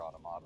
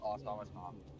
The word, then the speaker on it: Automata: only play Near when of course we're talking about the question we're talking about Near Replicant or Near Automata.